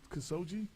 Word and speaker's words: Khashoggi: Khashoggi? That's how you pronounce it? Yes.